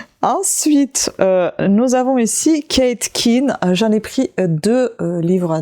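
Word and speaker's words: Quinn: nous avons ici Kate Kin j'en ai pris deux livres d'elle je ne sais pas si c'est Kate Kin ou Kate can on prononce attendez on va voir tout de suite il dis Queen carrément bon le code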